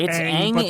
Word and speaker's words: Aang: the story, Ong's story is it Aang or Ong? I cannot. It's Aang in the show. They call him Ong in this. I think that's supposed to be the pronunciation. Like, if you're going directly from, like, again, I think it's supposed to be the, like, original actual Asian pronunciation of that name, and then it got kind of put through.